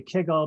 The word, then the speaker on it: kugel: By the way, we almost never say Kugel, we always say Kegel, but we had to rhyme with Google, so it came out Kugel that time.